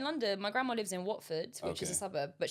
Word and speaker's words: Watford: My grandma lives in Watford, which is a suburb, but she pronounces it Guafor.